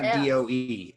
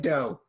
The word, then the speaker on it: do: one it's not good it's not d-o-e it's d-o i said that no you said dough i did not it we'll play it back later but the note is do and it's only pronounced d or it's only spelled d-o so do do a